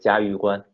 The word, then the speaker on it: 嘉峪关: Well, the pass in Chinese also means 关. So together, Chinese says it's 嘉峪关.